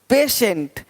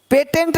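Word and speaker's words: patient: देखो पेशेंट, पेटेंट नहीं पेशेंट, पेटेंट पेशेंट, पेटेंट पेशेंट। तो श पेशेंट, देख पा रहे हैं।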